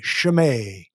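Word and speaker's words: Chimay: even know what that is what is it it's spelled c-h-i-m-a-y shame yeah it's a brand it could be a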